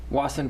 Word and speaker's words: Wasson: the Wasson Pond Pounder, which I was pronouncing Wason Pond, which is pretty bad considering that I've lived in this town for 30 years. Yeah, it's like Watson, but without the T.